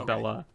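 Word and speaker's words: Belle-A: Yes, but she pronounces Bella.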